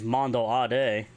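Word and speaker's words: Mando'ade: So alternatively, the phrase Mando Ade, which means sons and daughters of Mandalore, can also be used. Again, that's Mando Ade, which is spelled M-A-N-D-O, beten apostrophe A-D-E.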